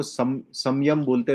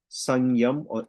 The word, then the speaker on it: संयम: अब कुछ लोग इसको संयम बोलते हैं, which is नॉट the right pronunciation for इट. इट इज संयम. ओके, संयम, और एन is like sword of silent with a nasal tone.